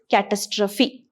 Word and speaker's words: catastrophe: not catastrophic it is catastrophe something that is pronounced as apostrophe okay same spelling okay